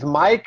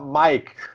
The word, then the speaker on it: Maik: Actually, the pronunciation is Maik. It's just like your Mike from Michael. It's just a weird Scandinavian German written version of it. But you may call me Mike.